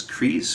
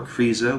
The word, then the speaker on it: Kreise: that went on was kris or krisa which means circle in german it's k-r-e-i-s-e i'm pretty sure it's how it's spelled and they're kind of